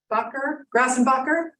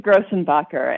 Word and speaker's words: Grossenbacher: have is Miss Green grassenbacher here again it's a grossenbacher and yes I'm here